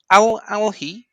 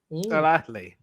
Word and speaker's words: Al Ahly: Yeah, because it's like you've got to pronounce the H and then just goes move to the L.